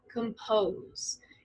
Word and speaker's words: compose: Compose. In English, we have stressed and unstressed syllables. And this one, it's stressed on the second part, compose.